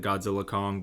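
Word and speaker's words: Godzilla x Kong: has spoken the name in interviews called it Godzilla Kong the new Empire it's a very Japanese thing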